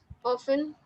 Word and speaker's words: often: Often, cause the T in the spelling is silent, and Mm-hmm.